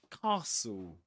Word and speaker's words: castle: So we say castle. Castle. Pretend it's spelled like this or like this.